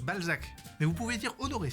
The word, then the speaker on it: Balzac: B bah bolsac scrotum en anglais sac de couille. Ball sac. Ben oui bol sac. Alors non, vous n'êtes pas monsieur Bolsac. Si, mais ça se mais ça se prononce Balzac.